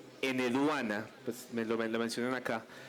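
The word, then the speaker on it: Enheduanna: Sí, tiene una H intermedia y lo voy a decir en H. Eneduana, pues me lo mencionan acá, que fue digamos un dato que yo no sabía, ¿cierto?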